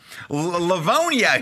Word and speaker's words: Livonia: Begins with an L. Rhymes with Platonia. Livonia.